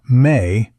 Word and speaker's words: me: The mi pronounced approximately as may by most Assyriogology scholars